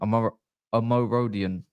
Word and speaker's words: Omorodion: Omorodion.